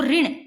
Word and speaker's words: ऋण: तब साउंड ऋण, री, इस री की आती है ना, क्योंकि लिखा तो इस तरह जाता है री की तरह, परंतु इसका उच्चारण करते हैं तब री नहीं आता, री ऋण।